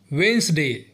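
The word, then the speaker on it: Wednesday: pronounce करते हैं जो कि गलत है इसका सही प्रोनंसिएशन है वेनसडे पांचवा है थर्सडे जिसे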